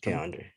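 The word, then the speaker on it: K'Andre: I read that Keandre Miller, is that how you say his name? Keandre or Yeah, Keandre? Keandre.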